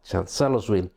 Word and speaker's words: Chancellorsville: is the battle of chancellor's will more accurately once again this and cellos campaign i'm sorry i think it should be pronounced as chancellor's will but as always i'm